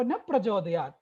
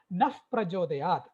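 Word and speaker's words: नः प्रचोदयात्: But I have heard most children chant Dhiyo Yo Na Prachodayat. That Na has a visarga there, 2 dots are there. So you have to pronounce it Naf Prachodayat. If you say, don't say that, you're actually praying that, oh God, my intellect should never become bright.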